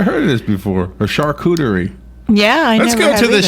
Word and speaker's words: charcuterie: A charcuterie section.